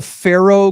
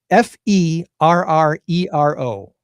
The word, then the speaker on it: Ferrero: If I say Faro Group, do you know what the Ferrero? Does that give you a hint? Oh, Ferrero, the chocolates. Ferrero, you're right. I'm saying it wrong.